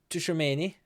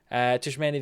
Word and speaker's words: Tchouaméni: Tchouaméni is how I'm going to pronounce him. Tchouaméni, the 28-year-old Frenchman, now very well-rounded.